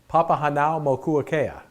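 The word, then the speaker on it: Papahānaumokuākea: It's called Papahanaumokuakea, right? And it's spelled just like it sounds.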